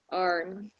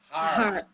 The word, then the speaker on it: harm: Something that is likely to cause harm. D. Harm. Harm. Arm is your arm. Here's harm. Harm.